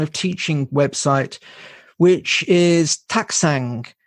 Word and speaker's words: Taktsang: my own kind of teaching website, which is Taksang. Taksang is Tibetan, or it's a place in Bhutan.